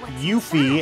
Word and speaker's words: Yuffie: cousin she is the easy answer yuffie or yuffie as her car name is correctly pronounced according to the voice versions of the